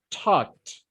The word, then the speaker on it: talked: as t, okay, like talked, talked. Ajá. El sonido se escucha como una T al final.